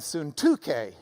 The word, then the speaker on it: Syntyche: Well, if you're from Lubbock, it does indeed look like Euodia and Syntyche. But if you've got the Greek reading next to it, you might as well pronounce it the way they do.